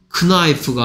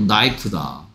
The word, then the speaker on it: knife: 크나이프가 아니고 나이프다.